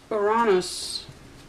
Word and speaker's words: Uranus: Uranus, as I pronounce it in the Greek, represents where your skills, your interests, your uniqueness, yes, and also your areas of non-conformity.